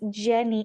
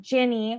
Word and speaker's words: Ginny: on with us today, Miss Jenny, or not Jenny, oh my God, Ginny, my goodness, butchered it already. You, Ginny. you know what, Natasha? I'm in the South, and in the South, it is all pronounced the same.